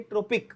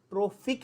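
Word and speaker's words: trophic: I have seen idiots who से ट्रोपिक, that is have completely different meaning. ट्रोपिक या ट्रॉपिकल completely different meaning हो जाता है, गलत। यहां पे क्या है, ट्रोफिक है, फ प नहीं।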